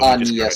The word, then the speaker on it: Agnes: There's no G anywhere in that. Yeah, it's just Agnes.